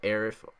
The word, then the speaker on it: Aerith: I personally don't mind if you call it Aerith or Aeris.